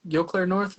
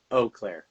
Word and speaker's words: Eau Claire North: Am I saying Yokair North? Is that how you say? Oh. Oh, yeah. Wait, how do you pronounce it? I'm so sorry. Uh, Oakclair.